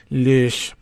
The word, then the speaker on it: Loesch: I'm sorry, I have to pronounce it in the Teutonic way. I hope you don't mind. Loesch is to describe the grant as one to the school's JROTC in general.